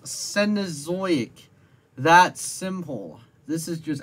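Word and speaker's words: Cenozoic: predators in South America around the canozoic period you mispronounced senozoic that simple this is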